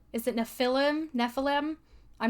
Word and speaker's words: Nephilim: things called, is it Nephilim? I'm not entirely sure how to pronounce Nephilim. it. Nephilim, thank you. So, these exist Like in Heffalump.